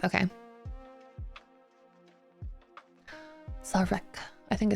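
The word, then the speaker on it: Szarekh: was offered, and despaired when, how do you pronounce that? Sazerac? The Silent King announced that it had been sealed. So Ozcan is really smart. He's a big brain. Zarek? Oh, it's just Zarek? Okay. Zarek.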